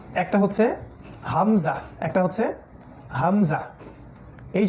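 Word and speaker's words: همزة: এই যে একটা হচ্ছে হামজা একটা হচ্ছে হামজা এই যে এটা উল্টা দেখা যাচ্ছে জানি এটা হলো হামজা আমরা একদম নিচ থেকে বলবো হামজা হামজা হামজা তারপরে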